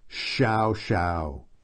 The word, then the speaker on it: Xiao Xiao: neither of those fit Shou Shou in in pinyin in Chinese the letter X is pronounced very much like SH that's just one example